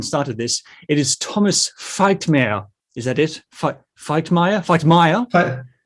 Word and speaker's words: Feichtmeir: It is Thomas Feichtmeir. Is that it? Feichtmeir? Feichtmeir, yeah, you did well.